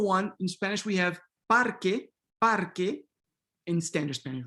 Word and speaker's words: parque: Pedagogically, we could think about it, okay, it's an E, let's just say parque, right? But technically, phonetically, instrumentally speaking, it's not necessarily this full-blown E, right?